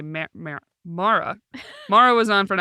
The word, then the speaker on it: Mara: That's why I always go to say Mara.